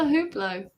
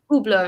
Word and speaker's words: Hublot: And then he was like, so first of all, you do not pronounce the H in Hublot.